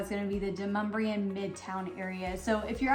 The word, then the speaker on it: Demonbreun: Now I know that if you're looking at it, and even a GPS system, I believe, still calls it Demonbreun. That's not how you pronounce it, it's Demonbreun.